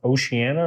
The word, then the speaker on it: Oceana: I think it's pronounced Oceana. It's spelled like ocean with an A on the end.